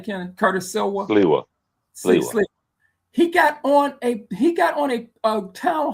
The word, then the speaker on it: Sliwa: I said his name Silva, the candidate for New York mayor from the Guardian Angels. How you say his name, Kenneth? Curtis Silva. Sliwa.